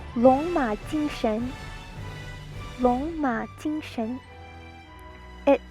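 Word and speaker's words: 龍馬精神: Long Ma Jing Sun. That's the Cantonese. Long Ma Jing Sun. Mandarin is pronounced Long Ma Jing Shen.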